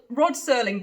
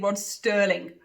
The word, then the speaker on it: Rod Serling: curve probably the bet I called Rod Serling Roger Sterling I now obviously and